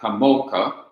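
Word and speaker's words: כָּמוֹךָ: person singular masculine is, the ending is eka. No, yeah. Is ka, not eka, ka. So you join kamo and ka together and you have kamoka.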